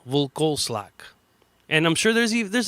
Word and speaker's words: Vlkoslak: ] it up but I told people what like saying velcro slack but take out the vowel V slack and I'm sure there's